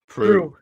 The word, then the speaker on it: Proulx: How do you pronounce it? Proulx.